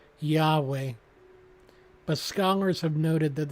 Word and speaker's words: Yahweh: word is pronounced nowadays we tend to add an A and E for verbal capacity turning the word yhwh into Yahweh but Scholars have noted